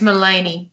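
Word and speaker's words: Maleny: Is that how you pronounce it? It's Malini.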